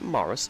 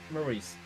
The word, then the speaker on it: Maurice: to answer this question is it moris or is it Maurice Maurice Maurice okay so I'm the one who's been saying it wrong not everyone else okay